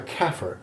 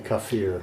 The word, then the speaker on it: kafir: am except i'm a kafir exogenous yes let me define kafir or by the way i'm told that all my arabic pronunciations are dreadfully southern i think they say kaffir so are your english